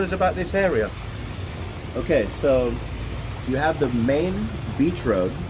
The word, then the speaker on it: soi: never been to thailand the word soy and it's spelled s-o-i yes it's it's a